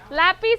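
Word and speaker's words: lápiz: talked about this a Lapis okay lapis has the sentence the the accent on the a okay lapis okay I'm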